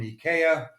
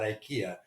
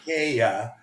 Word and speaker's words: IKEA: just been delivered from Ika which is how you pronounce it here it's not Ikea it's Ika so we were good